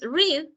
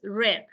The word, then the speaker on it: read: pero no se pronunciar aquí en presentes read y en pasado es red como el color read red O sea